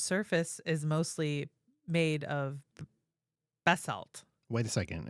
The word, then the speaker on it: basalt: The moon's surface is mostly made of basalt.